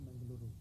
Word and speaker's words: Mangaluru: You pronounce it Mangalore or Mangaluru?